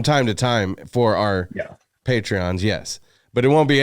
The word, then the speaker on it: Patreon: Am I like pronouncing it Patreon.